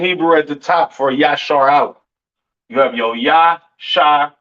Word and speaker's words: Israel: And Israel is not pronounced Yasharal. It's not pronounced Yisrael in the Hebrew. That is not how you pronounce Israel. Israel is pronounced Yashar Allah.